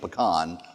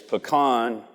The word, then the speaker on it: pecan: on the pronunciation of pecan. Well, it's very, very simple. It's pecan or pecan. Yeah. So if you're trying to get high prices, it's pecan.